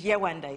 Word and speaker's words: Yewande: So I told him my full African name, which is Yewande. It's three syllables.